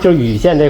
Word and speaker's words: 蔚县: Locally, we pronounce it as Yu County.